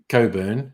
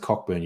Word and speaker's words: Cockburn: Oh, yes, Coburn. It's not really pronounced Cockburn usually.